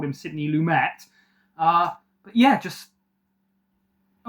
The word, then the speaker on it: Lumet: Uh, directed by I think it's pronounced Sydney Lumett. I think when I said it before I said Sydney Sydney Lumin he was like French but yeah I think